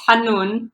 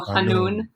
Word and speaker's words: Hannoun: It's Hannoun, but you can go Hannoun.